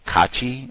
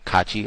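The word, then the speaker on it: Caci: The the road rage incident with uh Peter Cachi. I think that's how you say his name, c a c i, Cachi. I think that's how they said it.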